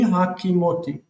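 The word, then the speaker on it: הֲקִימֹתִי: So he the first syllable reduces to ha because the stress moves and it becomes hakimote ani hakimotei I established hakimotei.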